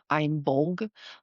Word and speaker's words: Imbolc: Um, it's in its gic form, it's technically more pronounced I'm bulg.